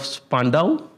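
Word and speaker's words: Spandau: If you want to connect with him, he's there and passionate, enthusiastic ambassador of Spandow. Is that how you pronounce it?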